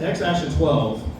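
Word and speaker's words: X Æ A-12: It's super crazy when you see it actually written out, because he uses that A-E combo letter that nobody uses since the 1400s. So it's pronounced X-Ash-A-12.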